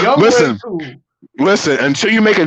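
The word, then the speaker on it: Younghoe Koo: Young Wei Koo. That's how you say it. He's not a young ho. I know you want to call him one because the way he kicked that ball, it's Young Wei Koo.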